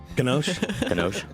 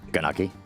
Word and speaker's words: gnocchi: Ganoche? Gnocchi soup. What is it? Ganaki. How is it pronounced? Chicken gnocchi. Gnocchi? Gnocchi. Yeah.